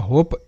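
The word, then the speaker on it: hope: হো পি তে প হোপ ই কিন্তু অনুচ্চারিত ওকে তো এই শব্দের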